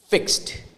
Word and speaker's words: fixed: e d fix no the e the letter E the fourth letter f iix e we swallow that or we make it something like a silent letter so it's fixed the same thing with